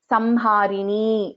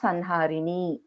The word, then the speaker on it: Samharini: Samharini only, not Sanharini. It is Samharini only.